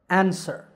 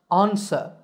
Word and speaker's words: answer: opposite of question is answer this is in american english in british english it's pronounced ansa with an ah sound at the beginning ansa number two is didn't